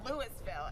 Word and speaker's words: Louisville: For all you outsiders out there, there's only one way to say Louisville. Now, it's not Louisville, Louisville, Louisville, or Louisville. It's Louisville. How do you say it?